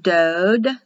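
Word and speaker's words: דוד: and it's translated doubt dode o like in yellow pronounced dode but the hebrew do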